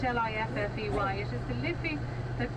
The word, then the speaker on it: Liffey: here so it is a river lifty spelt l-i-f-f-e-y it is the liffey that gives dublin its